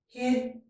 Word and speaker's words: hidden: We have hidden, button, eaten. In each of these words, we don't pronounce the vowel in the last syllable. Hidden.